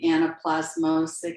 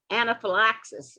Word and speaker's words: anaphylaxis: You're saying the anaplasmosis. I'm not pronouncing it right. Is that correct? Anaphylaxis.